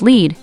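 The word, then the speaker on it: lede: pages lead an alternative us spelling of lead pronounced lead meaning the first paragraph of a news story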